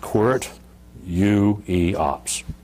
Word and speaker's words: Qwertyiops: familiar with word or not uh it's it's pronounced quart u-e-ops where you react uh a core ueop is